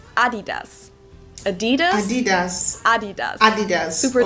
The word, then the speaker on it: Adidas: what they were referring to because they usually pronounced Adidas and in Germany we say Adidas Adidas Adidas Adidas Adidas super different it's it's